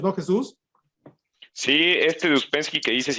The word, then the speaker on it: Ouspensky: Se escribe O-U-S-P-E-N-S-K-Y.